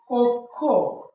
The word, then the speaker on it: কক্ষ: মাঝে আমরা কি জানি যদি শব্দের মাঝে বা শেষে থাকে তার উচ্চারণ শুরুতে কি আসবে ক হসন্ত পরে কি আসবে ক তাইলে এটার উচ্চারণ কি হচ্ছে এটার উচ্চারণ হবে কক্ষ ওকে তো দেখো প্রথমে